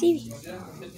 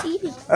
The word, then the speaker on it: Eevee: Yeah, it's Eevee. Evoli? No, it's Eevee. It's pronounced Eevee?